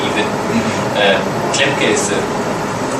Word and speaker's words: Klemke: Well, it's German pronunciation would be T. Klemke. But of course it's fine to say in international English or Klemke even. Klemke is the right way, so but just call me.